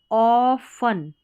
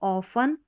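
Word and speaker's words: often: अब यहाँ पर ट्यूनी, अपॉर्च्यूनी, NI नी और टीज, अपॉर्चुनिटीज, मौके, ऑफन, ठीक है, ऑफन। अब ये जो टी है ना ये साइलेंट कर देंगे, तो ऑफन।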